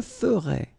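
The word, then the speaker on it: ferais: Je ferai des économies. So you can see that you write them differently, but then phonetically, they are exactly the same.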